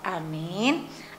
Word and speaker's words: amin: Jadi ada tata cara membaca amin, jangan pendekkan a-nya, dipanjangkan min-nya, atau sebaliknya. Karena kita lihat tulisan daripada lafal amin, amin.